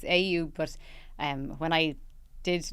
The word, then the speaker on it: AYU: To be honest, it's AYU, but when I did name the brand years ago, I probably didn't think about the pronunciation very well.